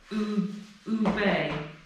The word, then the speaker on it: Oebe: So oo, and the E sounds like the last letter of the. Oobay. Oebe. Basically, Oebe.